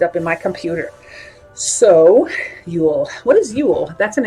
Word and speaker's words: Yule: So usually it's pronounced Yule. It's like Y-O-O-L.